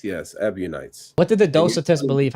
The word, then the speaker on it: Ebionites: Early Christian groups literally denied the crucifixion, like Docetists, Basilidians, even like some it's spelled like Ebionites? Ebionites, yes, Ebionites.